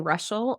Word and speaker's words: Reuschel: you can find me in my name Russell r-e-u-s-c-h-e-l is how you spell that super fun name that I married into